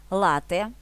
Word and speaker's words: лате: буду рада вашій версії лате в дослівний переклад кава з молоком вимовляємо з наголосом на перший склад і пишемо без подовження